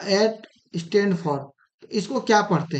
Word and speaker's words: @: एट the rate नहीं पढ़ते हैं, जो बहुत लोग पढ़ते हैं, ये गलत प्रोनाउंसिएशन है। इसका सही प्रोनाउंसिएशन क्या है? एट।